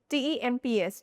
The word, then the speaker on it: temps: T E M P S, temps. So, here P and S at the end are silent.